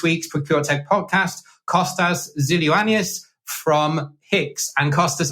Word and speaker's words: Xyloyiannis: procure Tech podcast Costas zilus from Hicks and Costas I apologize now I've probably butchered your name no did a great job thanks uh James really